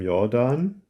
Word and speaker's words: Jordan: Jordan should perhaps be pronounced Jordan because it is named after the German geodesist Wilhelm Jordan.